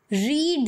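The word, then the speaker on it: read: यहां पर आप देखेंगे स्पेलिंग सेम है लेकिन सेकेंड और थर्ड यानि कि 5 सिंपल और पास्ट पार्टिसिपल में रीड को रेड की तरह पढ़ा जाता है लैंड मैं नेट को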